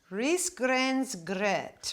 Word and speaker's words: Risgrynsgröt: Risgrynsgröt, Rolf. Roll your R's. Risgrynsgröt. Yes, that's how we say it.